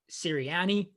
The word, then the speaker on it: Sirianni: Like the new head coach for the Eagles, Nick Sirianni, I think I pronounced it correct.